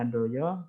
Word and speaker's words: Handojo: Ini ejaan lama mungkin, kita membacanya Handoyo.